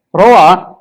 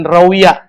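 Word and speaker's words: روى: Rawa, jadi bacanya rawa ya, jangan rawiyah.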